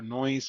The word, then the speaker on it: Knoise: But the K is silent, Mm, and and even though the name Knoise, and we're going with